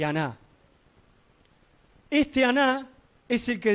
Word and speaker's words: Aná: En la descendencia de Esaú aparece este personaje que se llama no Aná, sino eh no Ana, perdón, sino Aná. Acento en la segunda Aná.